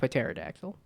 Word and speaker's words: pterodactyl: to have the letter like it'll look like pterodactyl but no to be is silent it's like what but there's how many